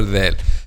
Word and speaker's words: ذ: So we pronounce letter there by making the tip of the tongue, which is this part, the tip of the tongue touches the edge of the upper two front incisors, which is this part, the edge of the upper two front incisors. This is how can we pronounce letter Dal. The tip of the tongue touches the edge of the upper two front incisors. The.